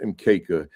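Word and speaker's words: mkeka: ma right everything is in kisuahili and it's pronounced mka and when you have a quanza display when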